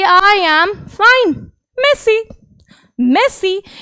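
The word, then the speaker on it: merci: जी हाँ, ये आपका जो प्लेयर है ना मेसी, उसी की तरह इसकी प्रोनाउंसिएशन होती है मेसी।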